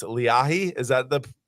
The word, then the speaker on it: Leahi: apologize for pronouncing it Lehi it's leahi is that the correct pronunciation you guys can go with whatever it's it's a Hawaiian word here it's leahi all right leahi I